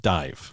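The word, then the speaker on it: DIIV: song called doused by spelled d-i-i-v apparently pronounced dive correct all right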